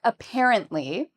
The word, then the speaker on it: apparently: So for apparently, the second syllable is what we say with emphasis. So it's the part we say louder and longer.